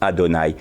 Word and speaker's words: Adonai: Il se restaure parce que la vibration de notre adoration est à la même fréquence que le tétragramme qui se prononce Adonai.